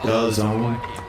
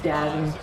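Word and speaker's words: DAZN: The zone. Duh. It's Dazzing. Dazzing. Dazing Dazzing. Bro, it's pronounced the zone.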